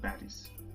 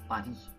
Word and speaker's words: Paris: party i live in paris so paris pronunciation in french is padi because normally we don't pronounce the last consonant so the s will be silent here so paris in france